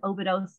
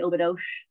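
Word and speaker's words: Óbidos: They pronounce their S's with a shush. So it looks like Obidos, but they say Obidos.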